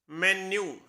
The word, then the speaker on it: menu: कि वेटर मीनू लाओ, तो वो मीनू नहीं होता, उसकी सही प्रोनाउंसिएशन होती है मेन्यू, मेन्यू, और मीनिंग होता है